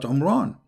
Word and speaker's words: Imran: my Mary is not Imran secondly he could not pronounce the name correctly of the father of Moses and Aaron because his name is Imran so the last letter is M not in so the foolish Mohammed